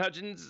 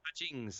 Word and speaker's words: Hutchings: Kevin Hutchins over on MeWe. Ooh. Hutchings. Let me say it right because I'm going to get in trouble.